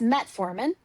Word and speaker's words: metformin: It's metformin, right? That's how Correct. you pronounce it.